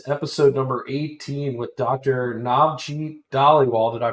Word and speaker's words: Navjit Dhaliwal: Navjit Dhaliwal. Did I pronounce that correctly? and it's close enough. Navjit Dhaliwal, yeah. Navjit Dhaliwal, thank you so much for joining us from Iagon.